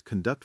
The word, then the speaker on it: conduct: Another one is conduct verb to lead versus conduct noun behavior or record verb to save sound versus record noun a piece of music or a history.